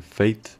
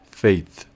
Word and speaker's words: faith: Sin embargo, en cuanto a la pronunciación, tengas en cuenta que fe, es decir, faith, se pronuncia terminando con un sonido estilo D, faith.